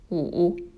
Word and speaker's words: 五: has five strokes and five is pronounced as ooh and number six dot